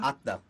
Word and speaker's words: Atta: In something like Atma or Atta? Atta. Atta. Yeah. Yeah. So in the Buddhist dialect that the Buddha spoke, which is called Pali, it's Atta also.